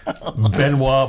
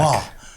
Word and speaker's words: Benoit: And we have Benois Blanc coming back. Benwa Benoa Blanc.